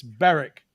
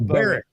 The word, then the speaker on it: Berwick: upon Tweed I'm sorry can I just give you the pronunciation it's Barrick it's not Berwick okay it is the